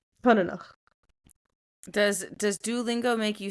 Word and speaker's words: coineanach: This is how it's said. Konenach. COINEANACH. And I went, no. But I tried to remember it by, like, coin, and then each is cut up, and then at the end.